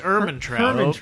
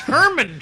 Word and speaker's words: Ehrmantraut: I thought it was urban travel we've been saying it wrong it's Herman you do pronounce the H most people get wrong